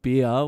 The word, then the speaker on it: Bir: went up to this place called beer where you do the paragliding it's bir that's how it's spelt and he jumped off